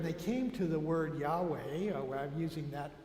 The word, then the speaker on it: Yahweh: last few years said we don't think it was ever pronounced Jehovah Yahweh or something like that but it's interesting in